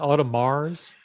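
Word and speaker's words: Audemars: yet would Mars you pronounce it automars how what the pronunciation I don't pronounce it Mars it's I never say the s on the on the end of a mars you get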